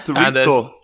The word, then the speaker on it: chorizo: Yep, that's how you pronounce it. Chorizo.